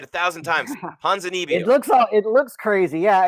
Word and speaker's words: Ponzinibbio: Ponzinibbio.